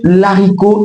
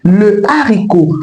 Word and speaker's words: haricot: On ne dit pas l'haricot, on dit le haricot parce que la consonne H devant ce mot est aspirée. Donc elle est bien présente dans la prononciation de ce mot. On dira pas l'haricot. Dites désormais le haricot. Et même quand il faut mettre l'article au pluriel, la présence de cette consonne aspirée bloque la liaison.